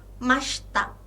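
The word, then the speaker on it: ました: deshta i-nya tidak dibaca dan Masta lagi-lagi i-nya tidak dibaca ya jadi begitu pelafalan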